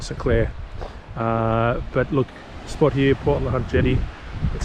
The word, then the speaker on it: Port LeHunte: But look, spot here, Port LeHunte Jetty, that's how it's pronounced, is pretty stunning.